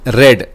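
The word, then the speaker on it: read: Their books are being रेड। यह मेरा वी3 क्या हो जाएगा? रीड रेड रेड। Spelling same रहेगा बट प्रोनंसिएशन रीड का रेड हो जाएगा।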